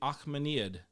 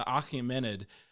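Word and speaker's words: Achaemenid: in the region it's also called the akhmanid right right or akamenid there we go i'll say it right in a minute the achimenid empire and it's also just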